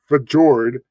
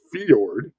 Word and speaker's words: fjord: Cruz Tracy arm fiord it's not Fjord which is what Jos from Adventures ahead would pronounce it as it's fiord um and then ketan is